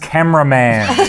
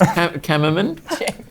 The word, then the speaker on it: Kammerman: Pronounced cameraman. Yeah. No, there's no A after this. It's Kammerman.